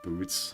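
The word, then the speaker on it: Butz: Butts supposed to be pronounced boots.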